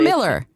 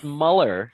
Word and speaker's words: Muller: Pete, is it hey, Muller, or Miller? It's Muller. Muller. Muller. You know, it's funny because my dad was Austrian, and in Austrian, it's Muller with two dots over it.